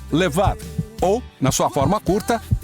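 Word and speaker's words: לבב: Quem hebraico se pronuncia levad ou na sua forma curta leve.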